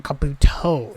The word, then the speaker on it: Kabuto: It's on Kabuto, isn't it?